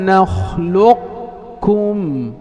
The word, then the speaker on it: نخلقكم: ألم نخلق كأنك ستنطق قافا ثم تختم بكاف. ألم نخلقكم إذن تبدأ بقاف وتختم بكاف.